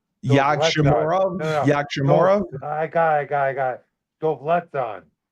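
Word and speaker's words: Yagshimuradov: So I think that's pronounced Yakshamorov. Yakshamorov. I got it. Dovletzan. Yakshamorov. Okay. Dovletzan. Yakshamuradov.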